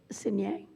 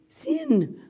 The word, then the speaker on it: Signe: Okay, Signe. Am I saying that right? I'm saying it wrong. It's called Signe. Sin.